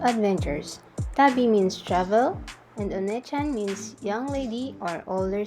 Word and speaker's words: Onechan: means lady of adventures tabby means travel and oneechan means young lady or older sister i use this spelling so that people will pronounce it correctly wait did you just say wan chan wan chan means dog in japanese i make